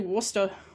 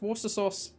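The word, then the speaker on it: Worcestershire: wash your sister sauce cuz I accept an uh I think it's actually Worster. I think that you don't I think you don't pronounce the Shia. I'm pretty sure it's just water sauce.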